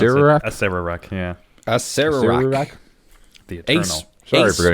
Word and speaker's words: Acererak: And in fact, as it says here, that's Akarak? I would pronounce Acererak? it Acererak, yeah.